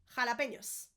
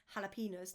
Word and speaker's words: jalapeños: It's got that ñ in there. The ñ is rather important, as you might know by now. So, jalapeños. Jalapeños. My husband loves this and he always says jalapenos. No, jalapeños. Darling.